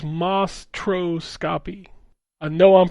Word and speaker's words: Mostroscopy: Monstroscopy. Not mon. It's just Mostroscopy.